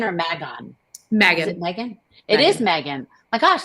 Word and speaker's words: Megan: And then coming this Friday, Ron and Kristy are talking to, does she pronounce it Megan or Magon? Megan. Is it Megan?